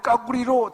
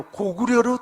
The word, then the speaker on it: 고구려: 세계문화유산에 등재할 때 중국 발음인 까구리로 등재된 게 아니라 고구려로 등재되어 있어요.